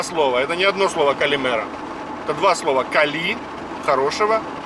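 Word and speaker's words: καλημέρα: Оно произносится как одно слово, хотя это два слова, но оно произносится калимера, оно произносится слитно, как одно слово звучит.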